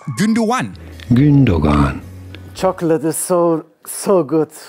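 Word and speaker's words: Gündoğan: But apparently, it's Gündogan. Gündogan. Chocolate is so good. Oh. And speaking of names I've previously butchered in our YouTube videos is this man.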